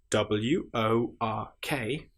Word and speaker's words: work: Just to point out at this stage if you have wo r k that is pronounced work because English is so annoying. work has the sound that we would normally expect to be with an i or e r or u r but instead in this instance because it is irregular work is spelled with o r but in this case